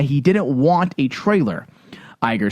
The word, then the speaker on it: Iger: it at all according to Disney CEO Bob Iger is how you say his last name right yeah Iger it's not Iger episode s director JJ Abrams is so Keen